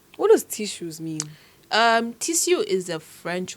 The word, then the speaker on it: Tissus: It's a French word. So obviously the last S is silent. So they say tissues. Tissue.